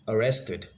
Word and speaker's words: arrested: be it we have been arrested has the stress on the second syllable and it has three syllables so it has to be be arrested again let's take the